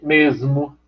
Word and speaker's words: mesmo: Veja, a gente tem a palavra mesmo, com esse S, sonoro, surdo, mesmo. Só que como o M é nasal, mas ele também é sonoro, veja como é que normalmente a gente pronuncia mesmo. Isso é uma assimilação do vozeamento.